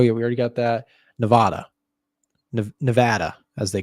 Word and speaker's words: Nevada: uh for everyone like everybody I know calls this state Nevada but everybody in this state calls it Nevada so I don't know what they're saying over in Nevada they just got their state name wrong but it's Nevada Nevada